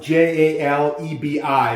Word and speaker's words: jalebi: as i understand it spells j-a-l-e-b-i but it's pronounced jalebi jaleen how you doing